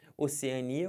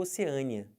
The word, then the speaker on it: Oceania: do continente o continente pode ser Oceania ou Oceania mais comum eu vi isso aqui tá eu sempre coloquei na primeira fileira O que é mais comum e essa aqui na segunda a pronúncia mais estranha embora ambos estejam corretas tá bom soro e